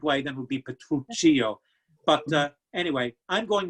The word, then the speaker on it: Petruchio: pronounce the protagonist's name is it petruchio or is it petruccio i've seen it and advised both ways and all i can say is potato potato tomato tomato let's call the whole thing off you pronounce it like the way you want to i'm going to say petruchio that's just the way i'm used to it yes it is because